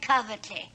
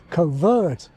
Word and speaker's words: covert: The older pronunciation had a weak second syllable coveret or coveret. Whereas the modern pronunciation has the long nurse vowel covert or for most Scots the dress vowel cover.